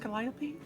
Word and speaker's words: Calliope: Oh, is it pronounced Calliope?